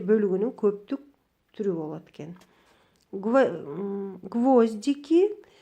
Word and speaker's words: гвоздики: Гвоздики биринчи ого түшүп атса, бул гвоздь, майда мыктар, гвоздики деп ошол гвозддун көптүк түрү экен. Эгерде гвоздики десек, дики могул жерде биринчи и тамгасына түшсө ударение, анда бул гвоздика деген гүлдүн көптүк саны экен.